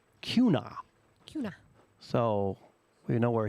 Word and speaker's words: Kuna: Actually, Kuna, pronounce Kuna. Kuna.